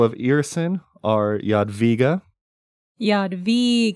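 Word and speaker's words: Jadwiga: W in Yad VGA is pronounced like a v in void which makes sense um so the the official term for people of earson are Yad via Yad VGA Yad VGA uh and yeah like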